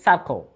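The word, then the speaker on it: circle: তাহলে এই শব্দের উচ্চারণ হচ্ছে কি সার্কো। এটা কার্কল নয় বা সার্সল নয়, এটা হচ্ছে সার্কো।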